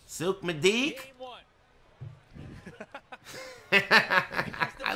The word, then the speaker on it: Souq Madik: Souq Madik. Game one. I like that one. That's a good one. That's the full and correct pronunciation for this stage in Arabic.